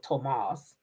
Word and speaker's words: Thomas: That's how you say his name. Tomas.